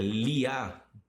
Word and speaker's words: Léa: Léa, que é Liá, quando você vai na pronúncia judaica.